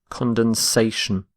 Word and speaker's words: condensation: little bit condom condensation condensation so you need to add an a the sort of the e so notice this the shift in stress from condensed to condensation our next word is